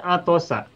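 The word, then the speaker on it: عطس: Tetapi kalau yang bawahnya ini atosa. Atosa.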